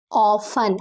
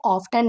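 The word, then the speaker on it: often: ही वह ऑफन अक्सर और यहां पे टी हमारा साइलेंट होता है। इसलिए हम लोग इसको ऑफरन नहीं पढ़ते हैं बल्कि हम लोग इसको ऑफन पढ़ते हैं।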